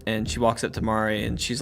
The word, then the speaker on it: Mari: So the trailer opens up and we see Mari. Is that her name? How you say it? Callie and Mari. Yeah, there's Callie and Mari it's calamari.